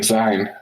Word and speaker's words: Sein: Except in the anime they were kind of pronouncing it with a Z, like Zine. I noticed, even though it's SEIN. In the anime, I thought I heard them say Zine, which would be it's